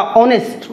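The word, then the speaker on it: honest: उन्हें लगता है कि अरे ऑनेस्ट, प्रोनाउंसिएशन इसका ऑनेस्ट ओ है, एच साइलेंट है, तो इसके पहले एन लगेगा।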